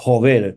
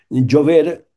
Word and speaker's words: Jover: Però és que també el cognom Jover, ja dic, pronunciat en castellà Jover, però que naturalment és un cognom valencià, un cognom català, Jover, Jover, és un home de la gleva obligat a la prestació de jove.